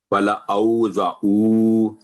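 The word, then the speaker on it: ولأوضعوا: و لا، لا نہیں ہوگا یہ، ولا او، ولا اوزعو، یہاں بھی دیکھیں آئین پر واو پر جزم ہے، تو چاہے وقف کریں چاہے نہ کریں اس کا تلفظ یہی رہے گا، صرف الف سائلنٹ ہوگا. ولا اوزعو، ولا اوزعو، ولا اوزعو.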